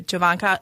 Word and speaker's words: Jovanaka: do we have today okay Javan is it javanka because I I'm telling you javanka I said it right I normally can get